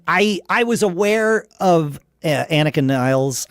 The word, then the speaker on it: Nilles: And I was aware of Anika Nilles. I believe Geddy pronounced it Anika Nilles. I thought it was Nilles, but I'll go with Geddy's pronunciation.